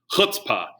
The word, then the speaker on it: chutzpah: Well, this one's more of the throat. So if you hear Yiddish, and one of my favorite terms in Yiddish is chutzpah, chutzpah, and it's spelled with a CH, but chutzpah is basically